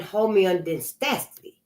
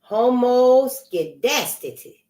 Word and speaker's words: homoskedasticity: Their use presupposed normal distribution and homeodystacity. Oh, homoskedasticity. Homoskedasticity. Oh, let me spell it for you.